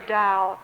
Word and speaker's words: Dao: Taoism the notion of the Dao t-a-o although it's pronounced as though it's d-o-w in ancient China the